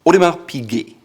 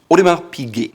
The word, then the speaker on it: Audemars Piguet: Audemars Piguet. It's a watch brand and it has a soft G. Audemars Piguet.